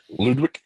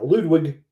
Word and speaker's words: Ludwig: was done by Ludwick Goron I hope I'm pronouncing that right Ludwick um yeah Ludwig Ludwig I yeah but uh yeah the music